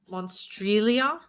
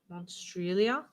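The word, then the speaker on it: Monstrilio: Where's the stress? Like on tree? Monstrelia. Monstrelia. Thank you. It could be Monstrelia. Monstrelia. Monstrelia.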